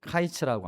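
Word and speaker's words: קיץ: 자, 히브리어로이 여름과일을 카이츠라고 합니다. 카이츠. 카이츠. 화면 보시고 한번 따라해 볼까요? 카이츠. 자, 끝이라는 단어는 캐츠라고 합니다. 여름 과일은 카이츠고 끝은 캐츠입니다.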